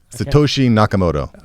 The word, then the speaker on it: Satoshi Nakamoto: Satoshi Nakamoto.